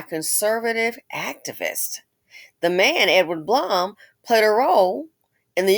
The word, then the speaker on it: Blum: a non-profit led by Blum Bloom is pronounced Bloom like you know alleges that the